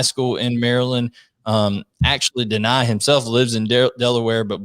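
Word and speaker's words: Dani: coach it is pronounced deny i was saying danny here in my my redneck you know georgia uh accent here but it's not danny it's deny dennis sutton and we're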